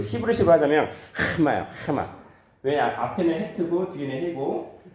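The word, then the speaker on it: חמאה: 해마. 이게 좀 히브리어는 발음하기 힘들어요. 그냥 그 히브리식으로 하자면 해마요. 해마. 왜냐 앞에는 헤트고 뒤에는 해고 그다음 요 두 번째 나오는 이 슈바는 발음하지 않아요.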